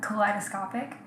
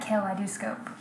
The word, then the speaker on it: kaleidoscopic: how to quick scope, he couldn't pronounce the word kaleidoscopic because my gamer tag was kaleidoscopic K, and he was like, Kale, I do scope.